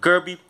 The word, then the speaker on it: Kirby: É, na verdade, se pronuncia Kirby, Garfinho.